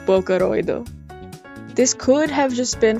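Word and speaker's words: ボーカロイド: not named instead being written out phonetically like this pronounced like booo this could have just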